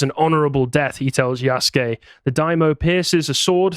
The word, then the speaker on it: Yasuke: It's Yasuke. Yasuke. I've heard it pronounced Yasuke.